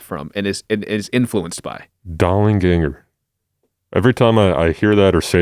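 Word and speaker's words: Dollanganger: I think you pronounce it Dollinganger, by the way, because there's two angs.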